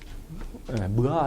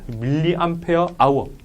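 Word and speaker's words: mAh: 다 위계가 이렇게 씁니다 뭐라고 읽어요 뭐아 이렇게 하면 안 되고 밀리암페어 아워 그래서 보통 여러분들 이제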